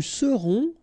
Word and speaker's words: serons: Nous serons, so final S not pronounced, then O-N, on, seront.